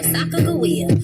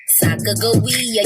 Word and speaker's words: Sacagawea: It's your girl Sacagawea, or is it Sacagawea? Either way, we gon' pronounce it with a hard G. So listen to my story about me and my baby. Sacagawea, yes, that is me.